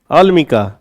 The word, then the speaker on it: अलमिका: अलमाइका, no okay okay, so what's the pronunciation? अलमिका।